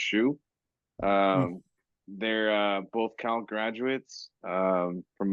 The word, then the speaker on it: Xu: I think their last name is XU is pronounced Shu.